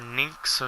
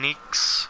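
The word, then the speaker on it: Nyx: say you see them playing as Nick's or Nick so ever how people pronounce it it's mostly I think it's pronounced Nick's yeah I decided to name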